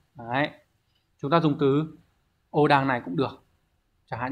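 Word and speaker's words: 横断: Ở số 4, từ này đọc là Ô đằng.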